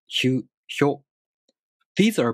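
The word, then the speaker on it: ひゅ: For example, hya, hyu, hyo. These are pronounced with the sh sound plus a, u, o.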